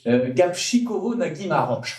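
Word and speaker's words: Gabčíkovo-Nagymaros: En commençant par une affaire qui s'appelle, et j'ai appris à la dire, j'ai appris à le prononcer parce que c'est difficile, Gapchikovo Nagimaroch, je peux le redire.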